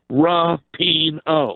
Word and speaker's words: Rapinoe: you know the whole Rapinoe not playing thing and it's Rapinoe Billy Schwein if you're listening Megan Rapinoe rah peen oh he said that he